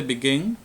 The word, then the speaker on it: begin: En el caso de begin, la sílaba tónica es gin.